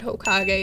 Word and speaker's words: Hokage: Okay, so I dropped a project called Hokage. It's spelled Hoe and then Kage. Because, if you're going to call me a hoe, might as well put Kage after it.